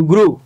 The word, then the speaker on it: grew: আসলে এটার উচ্চারণ হচ্ছে ফ্লু। FLEW ফ্লু, GREW গ্রু, DREW ড্রু, যেটাকে আমরা ফ্লিউ গ্রিউ ড্রিউ পড়ছি, মূলত সেটা কিন্তু রং।